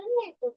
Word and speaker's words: gnaw: मैं तो नहीं एग्जाम्पल में एग्जाम्पल में अलग करूंगी। नहीं, यही एग्जाम्पल है। वो घाव नहीं है, वो है नौ। चलो अब गए। जी साइलेंट दीदी।